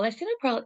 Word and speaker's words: lisinopril: in there lycinopril excuse me I've put the pronunciation so that we actually say it properly lyacinopril uh lisinopril is very simply it's to treat high blood